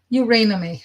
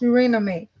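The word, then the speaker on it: Eurynome: Eurynomy. That's how it's pronounced. Eurynomy.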